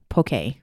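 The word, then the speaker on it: poké: If you don't know what that is, it's spelled Poke. It looks like poke, but there's a little emphasis sign on the E.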